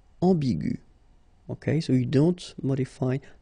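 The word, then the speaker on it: ambiguë: Another example is ambigu, and it will become ambigu.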